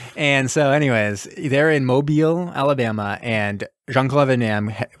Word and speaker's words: Mobile: Yeah, Mobile, Alabama. I didn't want to say it wrong. I didn't want to say it like mobile, like an idiot.